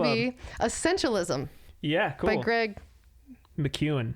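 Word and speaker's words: McKeown: essentialism yeah by greg mcewen mcewen i said mckeon but i don't think anyone knows what that means so it's mcewen yeah this is something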